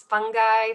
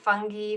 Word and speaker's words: fungi: quick introduction to the fungi also pronounce fungi fungi fungi just a quick reminder